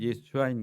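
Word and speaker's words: ישוע: 성경에서 예수님이라는 이름의 본래 발음이 히브리어 구원을 의미하는 예수아인 것입니다.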